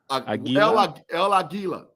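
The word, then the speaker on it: El Águila: El Aguila.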